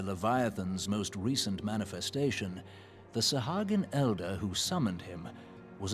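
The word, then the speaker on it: Sahagin: got to remember that it's pronounced sahagan think I was once I think I once said it as sjin or maybe I didn't but I don't know I think I feel like I would have pronounced as sah sahajan instead of sahagan but anyway before discussing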